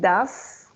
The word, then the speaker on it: does: Does. Yeah, we're gonna say here does. She does a lot of homework. Ahí ya no pronunciamos una O, right? Ahí se pronuncia como una A, does.